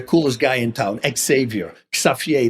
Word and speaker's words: Xavier: Xavier, that's how you pronounce it in Holland.